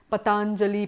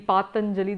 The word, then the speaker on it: Patanjali: So just one small note on that, there are many people who pronounce his name as Patanjali, Patanjali. There are a whole lot of permutations and combinations because it's hard to know the exact length of the vowel in his name.